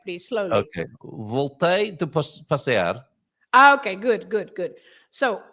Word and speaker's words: passear: here it's the last one because you have the R at the end. So the word, any word with an R at the end, you stress the end. Like passear.